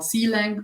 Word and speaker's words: Clang: You should, of course, see, okay, C and C++ has a front-end compiler called CLang or Clang, depending how you want to pronounce it.